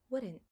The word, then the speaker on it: wouldn't: if you mentally replace that D with a flap R, like the R in Spanish, you will say wouldn't, wouldn't, wouldn't, wouldn't. It is okay. You have my permission. It really doesn't sound bad. Everybody will understand you, and it is an acceptable alternative.